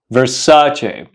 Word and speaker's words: Versace: Versace how do you pronounce it the correct pronunciation of this Famous Brand is Versace Versace so the next time you want to buy